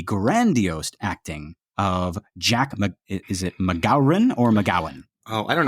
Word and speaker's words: MacGowran: I'm tempted to just say MacGowan, but there's an R in there. I think on the commentary, I think Friedkin says MacGowran with.